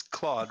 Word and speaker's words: Claude: thinking of a title it's pronounced FL it's Claude right CLA d e yeah Claud F I